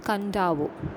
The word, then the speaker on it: Kadavu: The sacred turtles of Kandavo. Here is a travel experience that acquaints us with a strange ritual on Fijian island. Read on. On the island of Kadavu, pronounced Kandavo, one of the larger